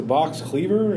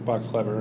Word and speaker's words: Box Clever: calls saying, "Oh, yeah, I won two tickets to Box Cleaver." And I'm like, "It's Box Clever." And it's spelled Clever, but I think it's the phrasing of it.